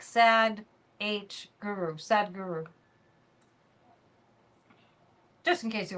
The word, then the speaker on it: Sadhguru: Kind of hard to believe that Sadhguru went on Joe Rogan's show.